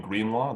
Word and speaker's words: Greenlaw: My name is Greenlaw. That's spelled green like the color, law like attorney at law.